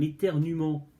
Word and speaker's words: éternuement: Un éternuement, vous avez entendu, hein? Vous savez, c'est comme certains verbes avec le E, comme genre jouer ou crier. Au futur, on dit je crierai, on n'entend pas le E, pourtant il est bien.